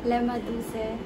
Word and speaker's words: lemaduce: I haven't really introduced myself to you guys, and marami nang tatanong kung ano ba talaga meaning yung lemaduce. So it's lemaduce, not lemaduce or lemaduce.